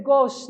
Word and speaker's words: gauche: Na atividade 2, olha só, quando nascia um anjo torto, desses que vivem na sombra, disse: vai, Carlos, ser gauche na vida, né? Pronuncia-se gauche, escreve-se gauche.